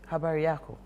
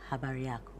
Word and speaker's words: habari yako: Habari yako. Habari yako.